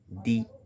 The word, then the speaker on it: the: Example: দি এগ, দি অ্যান্ট, দি elephant, দি apple ইত্যাদি। আবার যখন নাউন, ওয়ার্ড, অ্যাডজেক্টিভগুলো যদি কনসোনেন্ট দিয়ে শুরু হয় তখন দি উচ্চারিত আর হয় না, তখন উচ্চারিত হয়ে যায় দা।